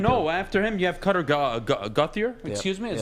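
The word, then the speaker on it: Gauthier: yeah after him no after him you have gothier excuse me is how you pronounce it stupid so just guys i'm telling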